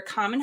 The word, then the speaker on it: Kaman: uh my name is common and my name is spelled with the K but pronounced like a g in Chinese a little funny tidbit